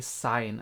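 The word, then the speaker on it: Sein: say say instead of sign but you say sign as if it's with with an a right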